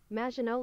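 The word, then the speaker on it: Maginot: uh Megan W or uh so pron yeah pronunciation it's it's French majino line majino okay I mean that makes sense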